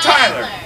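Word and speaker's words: Tyela: T-Y-E-L-A. Like Tyler.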